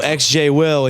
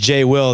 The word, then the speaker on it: xJ-Will: don't mind it's it's it's spelled XJ will but the x is silent just because of likeing